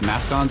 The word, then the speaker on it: mascons: yeah seven Moon Mas I'm not sure how to say this mascons or mcons Masons uh it's m a s c o NS sounds like like mascons to me mascons which are large